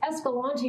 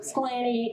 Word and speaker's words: Escalante: Because the way you got to pronounce it is Escalante. Okay? There's a lot of other pronunciations, but it's basically Escalante or Sclanny or Sclant.